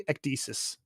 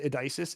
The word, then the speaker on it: ecesis: It's actually ecesis. Yeah. Yes. Like like hard hard k ecesis.